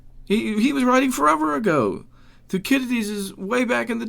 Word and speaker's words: Thucydides: I was just reading some stuff in Thucydides the other day, and it is actually pronounced Thucydides.